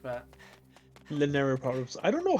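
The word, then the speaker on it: Lanayru: Lanleru or whatever. Laneri province. Laneru. Yeah, Laneri. That's how you pronounce it, actually.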